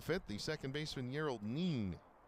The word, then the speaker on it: Nin: And so, with one out and the bases empty here in the fifth, the second baseman Yerald Neen. N I N, but in Espanol, pronounced Neen.